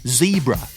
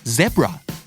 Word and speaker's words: zebra: root เหมือนบ้านเรานะครับไม่ใช่สิเราอ่านเหมือนเขาต่างหากนะฮะเพราะฉะนั้นไม่ว่าจะเป็น root แบบ British หรือว่า route แบบอเมริกันก็ถูกต้องทั้งคู่นะครับคำที่4ม้าลายครับเราคุ้นเคยว่ามันคือ zebra นั่นคือการอ่านออกเสียงแบบอเมริกันแต่ทางฝั่ง British จะออกว่า zebra ถูกทั้งคู่นะครับไม่ว่าจะ zebra หรือ zebra ก็ม้าลายทั้งคู่ครับและคำสุดท้าย privacy ความเป็นส่วนตัวครับ privacy